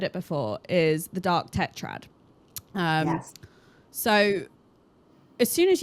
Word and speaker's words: tetrad: But could you explain to the audience, you know, the dark am I saying it right? The dark tetrad. Yeah, dark tetrad.